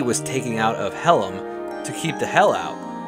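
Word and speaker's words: Hallam: of this Legend while the area is called Helm which is spelled h a l l a m but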